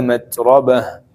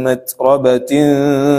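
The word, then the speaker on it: متربة: Walaupun di sini tertulisnya ta marbutah tapi ee ditutup dengan bunyi ha. Kalau misalkan mau wakaf mau berhenti, ya kan au miskinan dza matrobah. Matrobah. Kecuali kalau mau dilanjut itu bacanya ta.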